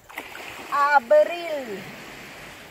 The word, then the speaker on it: abril: Abril. Abril. Remember the pronunciation of the A. It's not A-bril, A-bril. Always A.